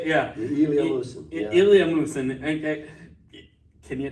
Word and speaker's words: Ilya Musin: Ilya Musin.